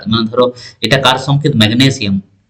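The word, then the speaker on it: magnesium: এম এফ এবার দেখো ম্যাগনেসিয়াম এখানে উচ্চারণটা মানে ধরো এটা কার সংকেত ম্যাগনেসিয়াম স্ট্রেসটা কার উপর পড়ছে গো গ এর উপর এজন্য দেখো ম্যাগনেসিয়াম আর যদি বলি ম্যাঙ্গানিজ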